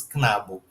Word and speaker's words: Knabo: Carlo, estas Knabo. E Vera, estas Knabino. Esse K com N, a gente tem que formar uma sílaba só com Knabo, Knabino. Não pode falar Knabo, Knabino, tá legal?